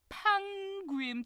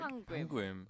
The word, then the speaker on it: Pangim: Pangim tour. That is the cutest name I've ever heard. Pangim. Okay. So, it sounds because it rhymes with Yangim.